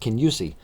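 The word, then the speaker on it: Kingussie: It's spelled King Usi, but it's pronounced Kenyusi. Um, in a Kenyusi style kilt, you actually have the plates, knife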